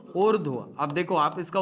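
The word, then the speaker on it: ऊर्ध्व: उर्ध्व। अब देखो आप इसका उच्चारण कैसे कर रहे हो?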